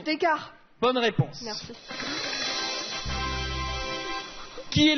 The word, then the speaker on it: Descartes: Descartes. C'est une mauvaise prononciation. Descartes.